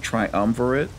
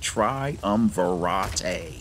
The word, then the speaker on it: Triumvirate: there is mysticism uh triumvirate and of course you know that some people like to pronounce it triumvarate but I don't think that's that's how it's pronounced okay and we also